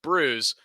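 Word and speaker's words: brewis: the asterisk to the footnote fish and bruise pronounced brews is a traditional newfoundland dish made from salt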